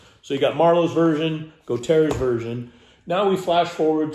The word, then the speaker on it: Gautier: Gautier's version is quite good, and I believe that's how his name is pronounced. It is not pronounced. I don't know if you can see the name here anywhere. It looks like Goeth's. It's not. That's Gautier.